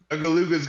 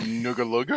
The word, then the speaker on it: Nugalug: But before, Nugaluga's gonna say something. It's not Nugaluga. His name is Nugalug.